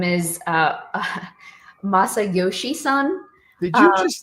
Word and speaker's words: Masayoshi Son: So, SoftBank CEO, his name is Masayoshi Son.